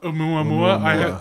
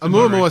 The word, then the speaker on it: Oumuamua: Oumuamua. I saw a lot of pronunciations, to be honest. Oumuamua sounds right because it's a Hawaiian word.